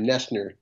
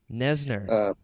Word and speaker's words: Noesner: And by the way, you probably know this, but you pronounce my last name Noesner. Noesner. Not Noesner.